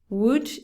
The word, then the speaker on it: would: no nothing could would would is the same pronunciation as wood madera it's the same